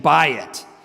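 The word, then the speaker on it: בית: I tell my students to remember that, like just think of a a realtor trying to sell you a house, and the realtor is saying, "Bayit."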